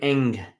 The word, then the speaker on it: Ng: gm now is kim eng her last name is ng it's pronounced eng and uh she was